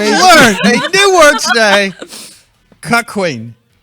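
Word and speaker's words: cuckquean: Cuckween. But it's spelled C-U-C-K.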